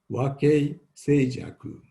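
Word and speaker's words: 和敬清寂: Japanese pronunciation is wakei seijaku.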